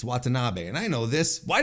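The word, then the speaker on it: Watanabe: Monae defeated stardom's Momo watan um why did I pronounce it like that it's watab and I know this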